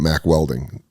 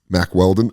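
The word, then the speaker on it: Mack Weldon: And that's what I like about Mac Welding. Mac Weldon. I keep saying it wrong.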